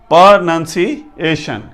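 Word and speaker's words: pronunciation: पर, पर, NUN, none, पर नन, सी ये सेपरेट है, पर नन, सी AYA, SHUN, शन, पर नन, शन, प्रोनाउंसिएशन, ये इसका एग्जैक्ट प्रोनाउंसिएशन है।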